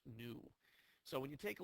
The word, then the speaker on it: nu: stands for frequency and it's pronounced new so when you take